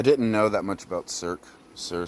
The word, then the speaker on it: Circe: I like Cirque. Because if you're going to use English to say her name, circle or to encircle, hawk, Cirque, I believe, is how you would pronounce it in English.